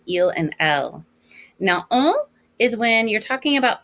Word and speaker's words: on: On. You don't actually go to the N.